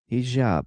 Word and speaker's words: hijab: Hijab. Okay, the soft J.